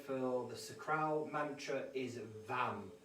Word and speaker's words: Vam: of the sacral chakra which is pronounced as vam v-a-m i'm going to give